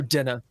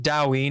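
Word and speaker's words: Daoine: So Dinna. Dinna? So you can call it Doween if you want. D-A-O. D-A-O-I-N-E. I-N-E. It's pronounced Dinna. Dinna. But people will pronounce it however they want.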